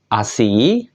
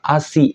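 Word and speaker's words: 足: ada tiga ya minasang yaitu ASI tarire dan Tase ASI itu artinya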